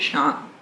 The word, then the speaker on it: Chant: Clinique both created by Bernard shant who is French it's spelled chant sh we're going to do